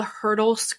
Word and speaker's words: Hyrtl: So there's also on display they're called the Hyrtl skulls, and I'm not even sure if I'm pronouncing that correctly. It's HYRTL, and it's a collection of 139 skulls that were amassed by Viennese anatomist Hyrtl.